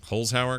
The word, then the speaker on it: Holzhauer: Holzhauer, because the Z comes before the H.